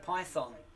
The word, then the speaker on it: Python: So many Americans say Python, and they emphasize the thon.